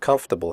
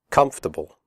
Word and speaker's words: comfortable: The word comfortable has 3 syllables, not 4. The OR is silent. We say comfortable, not comfortable.